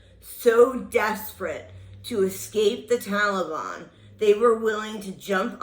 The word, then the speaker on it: Taliban: Oh, and by the way, it's Taliban, or not Taliban, or whatever the hell you say. Try it with me. Taliban. Because the accent is on the first syllable, not the second.